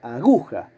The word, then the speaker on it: aguja: Pero la palabra suena, el sustantivo, suena aguja. Por lo tanto, la sílaba tónica es la del medio, es gu. Circulo.